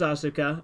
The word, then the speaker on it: Asuka: the point that Rio Asuka I know it's pronounced Asuka I don't care from devil man is not